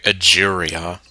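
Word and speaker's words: Egeria: her appearance here does match the records okay aeria well so well I I had the spelling right but the pronunciation wrong so her name is aeria well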